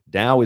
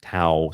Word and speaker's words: Dao: Dao is the path or the way. Some people pronounce pronounce it tao. Some people pronounce it dao. I I say daoism.